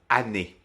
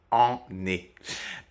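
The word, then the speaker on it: année: tous ces son nazo attention également si le la lettre qui est juste après donc le N ou le M est doublé dans ce cas-là attention le son nasal disparaît donc ça vous donne par exemple anné et non pas en neé qui ne serait pas très pratique à prononcer euh donc je répète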